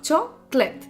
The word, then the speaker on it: chocolate: En español lo que está ocurriendo es que cada sílaba es distinta y además está claramente pronunciada. Sin embargo, en inglés las sílabas no acentuadas pueden hasta casi desaparecer, no las oímos.